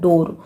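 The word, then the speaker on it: door: यहाँ पे भी एक्सेप्शंस है, देखिए डबल ओ के बाद आर है लेकिन इसका साउंड होता है डोर, ओ का साउंड होता है ओ।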